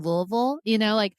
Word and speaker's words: Louisville: was like, "You mean Louisville?" And I'm from Kentucky, so that's why I know how to pronounce Louisville. Yeah, you want us to pronounce Louisville like you've got marbles in your mouth, like you're like an